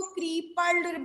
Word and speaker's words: crippled: इट is pronounced with a single P sound, इसमें single P sound निकल रहा है।